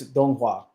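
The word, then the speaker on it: donghua: up the pronunciation so if it's animation from China it's donga which is their form of like Chinese animation you have Dong from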